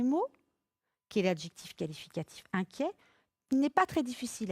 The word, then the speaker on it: inquiet: qui est l'adjectif qualificatif inquiet il n'est pas très difficile à écrire hein attention à sa terminaison et T mais qu'on prononce et un peu comme un gringalet et donc il se